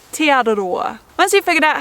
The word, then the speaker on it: Te Araroa: so that eventually you'll be able to say Te Araroa.